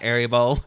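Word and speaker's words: Erivo: for it uh Cynthia Aribo, which you know what? Why did nobody told me that it wasn't Rebo? I've been calling Caninta Reebo for this longest time. And it's Cinta Aribo.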